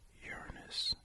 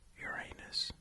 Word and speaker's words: Uranus: that I'm going to pronounce it Uranus and not Uranus because I'd hate for this planet to be the butt of so many jokes and plus I think